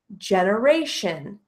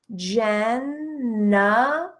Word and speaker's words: generation: So what do we notice about how I pronounce generation? Generation. Generation. Do you hear the schwa happening twice in this word?